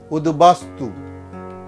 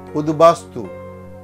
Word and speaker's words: উদ্বাস্তু: উচ্চারণ অবিকৃত থাকে, অর্থাৎ ওই বর্ণটির দ্বিত্ব হবে না, দুবার বলবো না আমরা। যেমন উদ্বেগ, উদ্বেগনা, এটা হবে উদ্বেগ। উদ্বাহু, উদ্বাহু। উদ্বৃত্ত, উদ্বৃত্ত। উদ্বাস্তু, উদ্বাস্তু। আবার বলছি উদ্বাস্তু।